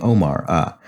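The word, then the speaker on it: Ouma: The classic rusk is the buttermilk Uma rusk, pronounced like the name Omar.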